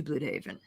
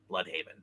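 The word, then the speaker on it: Blüdhaven: Haven yeah it's blood it's always pronounced blood unless you're actually German then it's blue well no one cares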